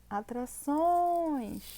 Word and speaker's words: atrações: gente fazia em falar eu falo atrações então Olha lá a minha última sílaba tônica dessa forma vai ser o que é oxítona paroxítona ou proparoxítona oxítona Então a gente